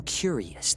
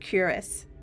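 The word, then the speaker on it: cuirass: of the armor yeah it's pronounced curus oh no way yeah I've only ever read that word anyway I am enema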